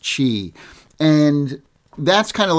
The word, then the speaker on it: Qi: go with the Qi charging it spelled Qi pronounced Qi and that's kind of like the wireless charging